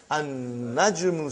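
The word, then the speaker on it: النجم: Now we have an-najmu. So how will you pronounce, brother? An-najmu ba'idun. You did not pronounce lam.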